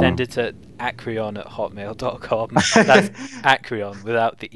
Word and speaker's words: Acryon: too hard to pronounce, like acryon. It's like 3 syllables. Thing is, acryon's a bit like more difficult because one thing it's got ache is the first is the first syllable, which could be taken as like a a bad word, but Yeah, yeah. also technically because we're British, and we pronounce it Aecryon.